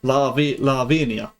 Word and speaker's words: Lavinia: It's Lavinia.